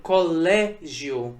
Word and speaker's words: colégio: Veja a palavra colégio. Colégio não foi a última sílaba tônica, foi a penúltima sílaba, a sílaba tônica, a sílaba mais forte. Por isso ela também é uma palavra paroxítona.